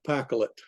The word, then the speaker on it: Pacholet: Now, I'm going to say that the spelling of the name Pacholet is with a CH, only because that's the way it was spelled on ancient maps. So we're going to pronounce that Pacholet.